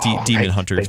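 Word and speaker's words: Daemonhunters: It's Demon Hunters, but you know they spell it Damon.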